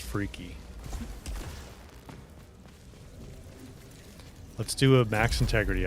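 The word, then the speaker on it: Phrike: You guys are telling me it's pronounced Freaky.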